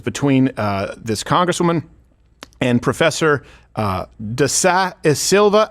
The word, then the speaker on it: Da Silva: And it was between this congresswoman and Professor Da Silva. How do I pronounce that name?